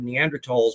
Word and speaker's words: Neanderthal: it without the 8u you never pronounce the H those are silent in German so it's always pronounced